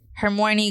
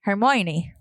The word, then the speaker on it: Hermione: Hermione Granger.